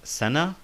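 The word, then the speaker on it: سنة: In this case, the ta marbuta is pronounced like the letter ha.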